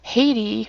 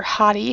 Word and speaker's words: Hati: Hati, or Hati, however you wish to pronounce it, H-A-T-I, the wolf that we had with our legendaries, would feign death along with your main pet.